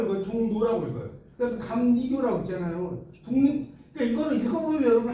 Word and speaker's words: 감리교: 종로라고 읽어요. 그다음에 감리교라고 있잖아요.